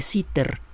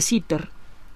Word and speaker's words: Sitter: Y entonces llegaron, por un lado, algunos investigadores teóricos como Albert Einstein y Willem de Sitter. Busquen la Wikipedia quién fue de Sitter. Se escribe Willem, como suena, pero con W y con M al final, es Guillermo en holandés.